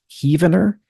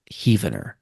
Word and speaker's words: Heavener: Nearby to Spiro Mound is Heavener, where more rooms were found. That reads like it's supposed to be pronounced Heavener, but I think the locals call that Heavener.